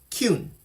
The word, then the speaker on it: Kyun: Instead of instead of Gyoon, they say K, not G. But G's in Korea are when it's the first letter in a name, it's the K sound. I know that because I studied Korean back in the day. I need to get back to it too. So it's pronounced Kyun.